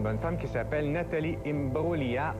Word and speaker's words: Imbruglia: femme qui s'appelle Nathalie imbroglia on a prononce pas le G c'est pas une drôle de glia je sais pas pourquoi